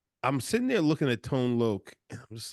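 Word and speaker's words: Tone Lōc: the comedy was crazy we have tone Lok uh that's how you say it right yes not tone lock tone lo I didn't say tone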